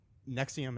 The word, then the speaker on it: NXIVM: The Nexium is NXIVM is how it's spelled.